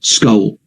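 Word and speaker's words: Scole: You might have to spell that for people who are not familiar with the UK. Okay, S-C-O-L-E, Skull.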